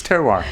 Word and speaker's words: terroir: It's terroir.